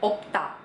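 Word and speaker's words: 없다: Nah, kalau ada B sama S, yang dipilih B. Oke? Dipilih B. Jadi kata ini dibacanya opta. Opta. Nah, kalau ketemu sama huruf vokal, dia dibaca dua-duanya. Kayak yang tadi juga, jadinya opso. Opso.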